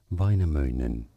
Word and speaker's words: Väinämöinen: Or in Norway, it's said as Väinämöinen, Väinämöinen. Väinämöinen. Väinämöinen. Okay. Hey, it's Mr. Väinämöinen. Man said, hey, you sure brought someone terrific. Mr. Väinämöinen?